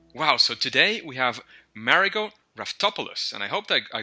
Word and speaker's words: Marigo Raftopoulos: engaging Learning Materials wow so today we have marot topis and I hoped I I got that last